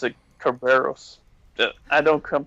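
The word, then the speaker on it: Cerberus: now I know I did I don't I pronounce it Kerberos yeah I don't come pronounce it Cerebus only because of some show movie I saw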